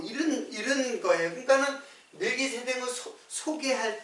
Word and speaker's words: 멜기세덱: 멜기세덱. 근데 멜기세덱이 우리 국어로 멜기세덱으로 번역했는데 실제로 발음으로는 말라크예요. 말라크 세데크.